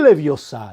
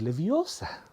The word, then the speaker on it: Leviosa: No es Leviosa, es Leviosa.